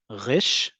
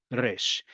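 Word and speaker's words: ריש: You can either pronounce it as rish or you can pronounce it as resh.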